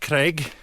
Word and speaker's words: Craig: And it's pronounced a little bit differently. Craig.